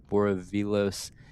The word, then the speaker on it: Boravilos: I wanted to know if it was a silent L, like they do in the Spanish languages. But no, Boravilos.